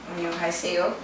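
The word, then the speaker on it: 안녕하세요: I can say annyeong gaseyo. Annyeong gaseyo. What's that mean? Like hello, hi. Oh. Good afternoon. Oh, how do you say it? Onion. Annyeong gaseyo. Onion gaseyo. Yeah. Annyeong gaseyo. Annyeonghaseyo. So it's like greeting, good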